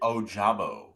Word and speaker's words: Ojabo: David Ojabo.